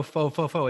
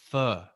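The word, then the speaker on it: phở: goes around going oh fo fo it's actually if you're in vietnam it's actually pronounced fur like but it's got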